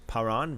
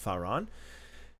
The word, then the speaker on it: Paran: Fei in the Hebrew, the same Hebrew letter that is pronounced as a P is also pronounced like an F too in some cases. So this is compatible in the Hebrew. Paran versus Pharan.